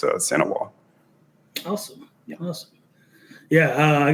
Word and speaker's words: St. Ewart: But Sanois is how you say my last name. The is in French, and you don't pronounce the T in it. So it's Sanois.